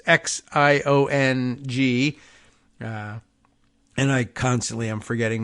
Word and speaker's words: Xiong: In the 13th district, covering Warren and parts of Detroit, May, Zhang, it's Xiong, and I constantly am forgetting my Chinese pronunciation advice from all of you in this, but let's see.